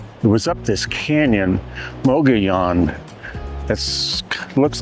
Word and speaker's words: Mogollon: And it was up this canyon, Mogollon. It looks like Mogollon, but the L's are Spanish pronunciation, so Mogollon.